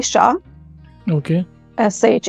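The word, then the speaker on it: Shah: क्योंकि मैं अभी जब लिख रहा था तो आई वाज नॉट श्योर कि कैसे प्रोनाउंस करना चाहिए. सो शादी से पहले मेरी लास्ट नेम थी शाह.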